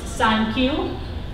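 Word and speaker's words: サンキュー: And the significance of that is 39 in Japanese is pronounced Sankyu, which sounds like thank you in English.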